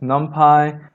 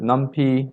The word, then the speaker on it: NumPy: So often it's pronounced NumPy, but I sometimes call it NumPy. So whichever you prefer, they're both fine and referring to this particular package.